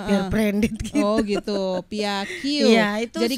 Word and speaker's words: Pia Q: Oh gitu, Pia Q. Iya, itu jadi Q ya bacanya ya.